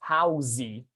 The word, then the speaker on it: house: Brazilian students would pronounce housey. But when they realize, okay, I'm not supposed to say this last E because I already have, another vowel cluster here, you're going to have a single syllable, house.